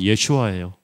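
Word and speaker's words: ישוע: 예수님의 이름을 아람어로 발음하면 예슈아예요.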